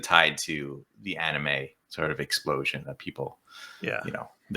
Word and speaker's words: anime: Well, anime is a foreign loan word, obviously, for animation, of course. So they call it anime. Anime. That's how it's pronounced.